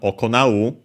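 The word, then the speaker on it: 行う: There's also the verb okonau. This one we haven't seen yet. Unaccented, yeah, which means to perform, to do, also to conduct oneself, to carry out.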